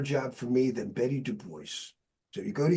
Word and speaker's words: Duboce: I told her it's Isn't it Dubois? And she Yeah. She said, "My husband's from New Orleans and that's how they pronounce it." All right. Dubo.